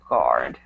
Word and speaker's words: guard: guarding okay perfect so when you see the word guard you don't really pronounce the U it's just guard okay and also this